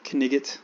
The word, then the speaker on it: knight: The word Knecht is related to the English word knight, which used to be pronounced Knigget, like in Monty Python.